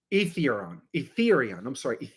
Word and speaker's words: Aetherion: Etherion. That's how you pronounce that city.